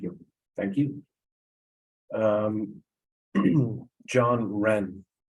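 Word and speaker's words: Wrenn: uh project thank you thank you um John Ren w-r-e-n-n great pronunciation uh my name is John Wren I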